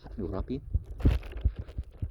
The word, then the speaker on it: Hammurabi: Hammurabi, pronounced Hammurabi, the founder of the first Babylonian Empire, is